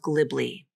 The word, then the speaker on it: glibly: the IPA of glibly the pronunciation is fairly straightforward but you do have two L consonants in a row which can be challenging to pronounce the good news is both L's here are light L's so that should help make this word a little bit easier to pronounce but it still feels